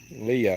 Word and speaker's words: Leah: Leah is how you say it.